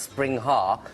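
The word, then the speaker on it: springhare: now this is actually a spring hair pronounced spring har am I right to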